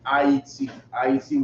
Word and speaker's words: Ayiti: Go to Isupk IET, which is spelled AYITI, right? AYITI. That's how you say Haiti in Creole.